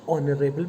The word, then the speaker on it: honorable: it is not ha h is silent since o is a vowel oh it is a